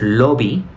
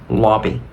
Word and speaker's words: lobby: by lolab by Okay la siguiente palabra no es lobby más bien lobby lobby lobby entonces noten la diferencia que cuando yo lo digo como con una pronunciación en español digo lo abriendo más la boca porque de hecho en español articulamos mucho más que en inglés en inglés es lobby lobby luego tenemos la palabra